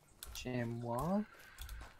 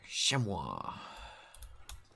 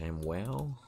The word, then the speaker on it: chamois: Chamois, I think they pronounce. Chamois. Which is referring to chamois leather. I was going to say it's a chamwell. But there you go.